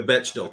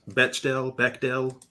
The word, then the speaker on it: Bechdel: The Bechdel test. Bechdel. It's spelled Bechdel.